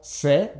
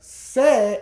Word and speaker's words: sé: Because without an accent, sé is a completely different thing. It's actually a pronoun. Now, sé with an accent on it and sé without an accent on it are pronounced exactly the same.